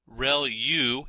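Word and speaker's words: ReLU: there are multiple hidden layers like convolution layer real U is how that is pronounced when that's the rectified linear unit that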